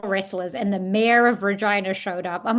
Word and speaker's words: Regina: We we filmed predominantly in Regina in Canada, which is hilarious because it rhymes with vagina.